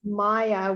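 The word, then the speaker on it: Maja: the same as my sister is Maya with a J.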